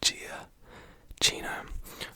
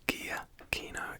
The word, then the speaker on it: Giacchino: I pronounced it Giacchino, which is not what it is. It's Giacchino. It's all hard sounds.